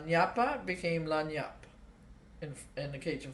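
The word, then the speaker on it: lagniappe: but influenced from before there's a word in Louisiana that we call lanap which is spelled l a g n i a p p e and it means a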